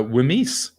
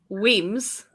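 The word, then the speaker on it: Wemyss: were english um yeah i'm gonna go uh wimes so the first one is pronounced john the first one is pronounced weems weems and the second one is pronounced mulgai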